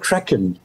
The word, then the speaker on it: Kraken: It's called Kraken, K-R-A-K-E-N.